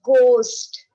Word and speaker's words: ghost: It's a ghost. What is the spelling of ghost? G-H-O-S-T. Ghost. So what is silent? Yes, H is silent here in ghost.